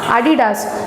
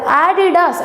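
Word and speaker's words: Adidas: ஸோ இது அடிடாஸ்ன்னு நீங்கள் சொல்லக்கூடாது, அதை ஆடிடாஸ் அப்படின்னு சொல்லணும். ஸோ இங்கேயும் நீங்கள் இந்த ஏல ஸ்ட்ரெஸ் கொடுக்கணும். அப்படின்றத அப்படின்னு ப்ரொனவுன்ஸ் பண்ணி ஆடிடாஸ் அப்படின்னு நீங்கள் சொல்லணும்.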